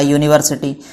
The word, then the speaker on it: university: ऐसे यूनिवर्सिटी को किससे स्टार्ट करेंगे, वाई से यू स्टार्ट करेंगे, है ना, YUNIVERSITY, यूनिवर्सिटी।